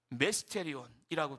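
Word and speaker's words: μυστήριον: 여러분이 신비라는 단어 성경이 쓰인 헬라어로 보면 미스테리온이에요. 메스테리온이라고 발음이 되지요.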